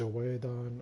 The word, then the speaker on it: Oedon: You could pronounce it many ways. Oedon, Odin. I prefer to just pronounce it like Odin.